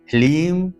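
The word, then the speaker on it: ह्लीम: सारा खेल है ओम लीम श्रीम क्लीम नमः यहां पर लीम है ह्रीम नहीं लीम ह लीम लीम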